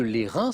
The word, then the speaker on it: Lérins: au premier au deuxième plan les îles de lérins avec un test qui se prononce exactement l on voit la photo donc